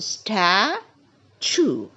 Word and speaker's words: statue: one is Statue we never say statue it is a statue we stress on the first three letters stat stat the next one emotional emotional